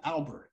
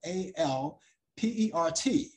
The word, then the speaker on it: Alpert: heath herb alpert now a lot of people get their name wrong it's not albert some people say herb albert it's herb alpert that's spelled a-l-p-e-r-t alpert her albert and the tijuana